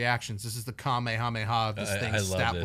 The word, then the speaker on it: Kamehameha: said, with this little Kamehameha. That's how they say it in the show.